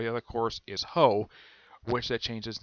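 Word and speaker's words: Hao: this, because the name Ho is a reference to a prostitute. Yes. prostitutes are also called hoes. Yes, I am not kidding about this. The way it's pronounced is ho.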